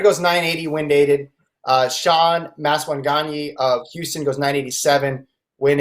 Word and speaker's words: Maswanganyi: Maswanganyi? Maswanganyi. I don't know how to say it. Maswanganyi. I was way off. Maswanganyi.